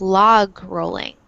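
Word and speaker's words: logrolling: And sometimes in English they really pronounce that G sound, so it's like log rolling.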